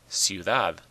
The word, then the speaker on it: ciudad: Ciudad, ciudad. It ends in a D, not an N or an S. So the stress is on the last syllable.